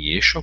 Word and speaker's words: Yeshua: Daí o nome de Yeshua em aramaico, que se pronuncia como Yeshu, tendo em vista que